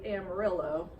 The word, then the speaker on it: Amarillo: same work except obviously Amarillo is not pronounced how it should be it's horribly butchered so Amarillo Texas is